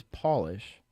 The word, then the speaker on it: polish: looked into it, but Polish is the only word in the English language that changes meaning and pronunciation with capitalization. So if you lowercase it, it is Polish. If it's capitalized, it's Polish.